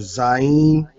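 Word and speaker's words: זין: Next letter is your Zayin. So where you get your Z sound. Z, Z. Zayin.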